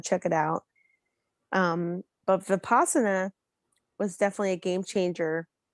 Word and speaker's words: Vipassana: You do the Vaspatana, how you say it? That's the Vipassana.